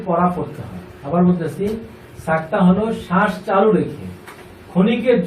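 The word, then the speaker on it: سكتة: আচ্ছা, এবার আমরা একটু শুনি সাক্তা। আমাদের পরের একটা বিষয়বস্তু হলো সাক্তা। সাক্তার চিহ্ন এইটা যেভাবে লেখা আছে, সিন কাফ তা হা। তা এটা অ্যাকচুয়ালি হা, মানে উচ্চারণ যখন হয় তখন হা হয়ে যায়।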